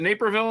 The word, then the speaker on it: Naperville: Is it Naperville, Illinois? Is that how you pronounce it? Yeah. Oh, it was Naperville. Napierville.